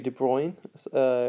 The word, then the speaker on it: de Broglie: a scientist called louis de bruyne it's uh written like de broglie but it's pronounced de bruyne as he is i